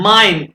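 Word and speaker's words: mein: article क्या है माइन अब ये सब इसको प्रोनाउंस ये बता रहा हूं माइन ठीक है ये इ आई आ गया ये आई के बाद निकलेगा माइन ठीक है डू का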